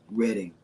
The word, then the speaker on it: Reading: in his mind was born in Reading Pennsylvania Reading yes this his reading it's the way you pronounce it is reading with the a it's